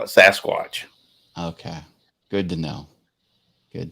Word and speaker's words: Sasquatch: what's the deal like what's the correct pronunciation well according to everything all those tv shows and everything we watch at sasquatch that's what they call it but why do why do canadians say sam squatch out here in florida we